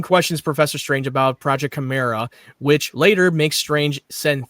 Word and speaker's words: Chimera: Just pronounce it the best way you can. Chimera. Chimera. Yeah, there you go. Like Mission Impossible 2. Chimera. Yeah. Gordon questions Professor Strange about Project Chimera, which later makes Strange send Theo Gallivan, now